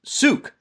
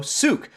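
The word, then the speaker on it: Sooke: watching hello from sookie pronounced like duke with an s oh s suk there we go souk she got me from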